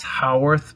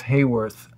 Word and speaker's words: Hayworth: Hayworth or Haworth? Respectfully to my parents and everyone, it's Haworth, but we say Hollywood here, it's Hayworth. So I don't know.